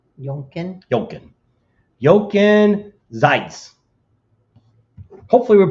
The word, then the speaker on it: Jochen: So It's like Duncan, but it's with a J, but you say it with let a me Y. look here at gallery.